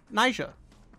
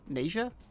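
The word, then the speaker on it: Naija: got a new character nysha Nisha I've heard people pronounce it both ways but Niger is from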